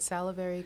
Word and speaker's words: salivary: You said salivary cortisol.